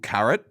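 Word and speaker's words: caret: a reboot or another package cold carrot but spelled like the vegetable remember so yeah yeah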